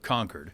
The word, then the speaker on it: Concord: school up there so everybody knows the town of conquered conquered New Hampshire yeah Concord yeah which is the